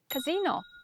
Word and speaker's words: casino: Just move the stress to the last syllable. That's the difference. Casino, it's a place to gamble. And casino is a mess or something even more scandalous.